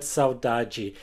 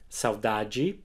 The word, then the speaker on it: saudade: The strongest syllable is the middle one, saudade, and the unstressed D